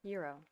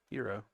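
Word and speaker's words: gyro: how do you pronounce how do you pronounce it g-y-r-o Euro okay Euro yeah okay good thank you anxiety we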